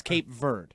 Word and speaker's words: Cape Verde: It's Cape Verde.